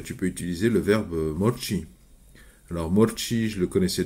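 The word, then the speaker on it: მორჩი: guiles donc morchi routun c'est assez facile à prononcer il y a aucune difficulté à part des a roulé comme la espagnool donc morchi morchi mais c'est du tutoimement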